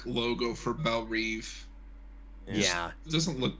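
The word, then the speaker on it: Belle Reve: it doesn't look right at least they pronounce it right that drives me crazy in DCU when it turned into Bell rev for some reason it's the only thing that's ever pronounced it like that I'm like stop it no see in this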